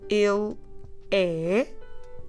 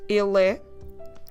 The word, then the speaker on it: ele: The word for he is more a closed vowel, so you don't open much your mouth, you do a il.